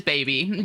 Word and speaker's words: SBBY: I thought more as SBBY to be pronounced as baby.